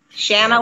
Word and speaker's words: Shanna: Shanna like banana.